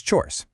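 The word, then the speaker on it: չորս: Number four is chores. It's just one quick strong syllable.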